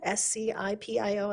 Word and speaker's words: Scipio: Diamond Valley, Elk Ridge, Hennifer, I'm gonna completely mispronounce this, Scipio, S-C-I-P-I-O, I don't know how to say that.